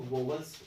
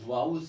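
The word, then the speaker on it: vowels: देखो कभी भी इसको वोवल मत बोलिए आप, क्योंकि बहुत सारे स्टूडेंट ज्यादातर इसको वोवल्स उच्चारण करते हैं। जी नहीं, गलत होगा, आप इसको वाउल्स बोलिए, क्योंकि ये भी उच्चारण का एक पार्ट होता है। तो क्या बोलेंगे आप इसको, वाउल्स।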